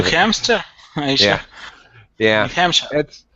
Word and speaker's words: New Hampshire: That's our New Hampshire is correct pronunciation, but I lived in a neighboring state to New Hampshire for a lot of my lifetime, and in the neighboring state Vermont, we called it New Hampshire, just as a silly nickname.